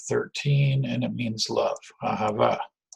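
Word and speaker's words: אהבה: and it means love Ahava right and remember if you're trying to do the correct pronunciation if you try to emphasize the last syllable nine times out of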